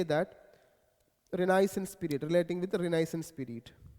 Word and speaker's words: Renaissance: called as Renaissance period period okay the correct pronunciation of this word is renisance renisance okay renisance r e n i a